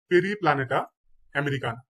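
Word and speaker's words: Periplaneta americana: বাইবেক্স Plasmodium বাইবেক্স আরশোলা আরশোলার বৈজ্ঞানিক নাম হচ্ছে পেরি প্লানেটা আমেরিকানা পেরিপ্লানেটা আমেরিকানা তারপর মৌমাছি মৌমাছির বৈজ্ঞানিক নাম হচ্ছে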